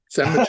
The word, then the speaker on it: Semotiuk: My name is and today I am in the Zoom with um Andy Simuk. I hope I've got that pronounced right. Simuk.